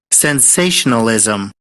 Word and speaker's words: sensationalism: Now, this ending here can be very tricky for pronunciation, right? We read this SM. We don't say Z. We say zum zum sensationalism.